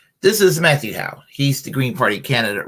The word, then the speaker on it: Matthew Hoh: to talk about uh matthew howe um matthew ho um matthew ho that's how you pronounce his name he's uh a veteran